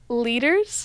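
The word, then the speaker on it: Lueders: you know Carson lur how do you say his last name leaders leaders oh wow it look there's a you in there that does not look like leaders to me I was going to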